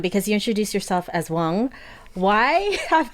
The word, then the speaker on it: Quan: My name was actually, it's spelled Quan. So it's actually pronounced Wang, but phonetically in English it's pronounced Quan.